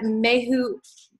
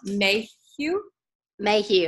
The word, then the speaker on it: Mayhew: bear with me so may hootch am I saying it wrong Mayhew may he is yep Whalen is the